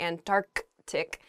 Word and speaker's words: Antarctic: pronunciation of this word some people say and and tar antarctic really oh i guess when you're saying this word quickly you might leave out that first c in the antarctic so don't say that don't do that say antarctic the the very very